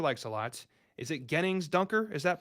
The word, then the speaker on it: Gennings: Is it Gennings Dunker? Is that pronounced correctly, sir? I think it's Jennings, but Gennings also doesn't sound too wrong either.